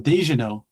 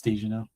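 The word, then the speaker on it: Daignault: Oh, Dejino. Daniel. D A I G N E A U L T. Daniel. I think in French it's Djano. No, it's Daniel.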